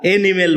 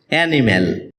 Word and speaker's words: animal: অ্যানিমেল এটাকে আমরা এনিমেল বলে থাকি যার সঠিক উচ্চারণ হচ্ছে অ্যানিমেল শব্দটি বাক্যে নাউন হিসেবে